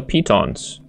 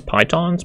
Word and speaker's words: pitons: I've been pronouncing it as pitons, but someone corrected me in my 9 tips for beginners video and said it should be pronounced as pitons. Like a P-E-E, P, as though you're peeing, and tons.